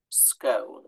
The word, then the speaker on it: scone: produced conclusive evidence that it should really be pronounced One Way claiming the original Scottish is with a long o as in toast scone so that would be